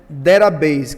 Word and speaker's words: database: E a palavra para banco de dados é derabase, que se escreve database. É, eu posso colocar maiúsculo, posso colocar minúsculo, vai funcionar de qualquer jeito. Perceba data base que se lê derabase.